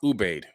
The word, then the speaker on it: Ubaid: the the uh you babe ubaid people it's pronounced ubaid u-b-a-i-d all right you have the ubaid people